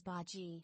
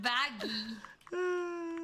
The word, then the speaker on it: Bagi: The name Baggy is commonly pronounced as Baji. It's not... Okay, thank you. Hey, Rucho, can you tell me about Baggy? No, it's Baji. Baji. Baggy. Not Baggy.